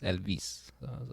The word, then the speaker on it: Elvis: But also, like in Spanish, the way you pronounce Elvis is Elvis. You emphasize the vis, Elvis.